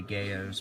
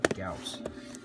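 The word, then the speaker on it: Gyaos: Gauss. This one's okay. After this movie, that's when it really started to be bad. This one, they call them the Gayos, but it's actually Gauss.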